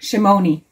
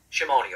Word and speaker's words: Shimoni: that just wanted to double check on the pronunciation of your last name shimone shimone okay we were taking bets that it was